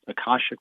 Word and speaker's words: Akashic: And by the way, you pronounced Akashic books exactly right.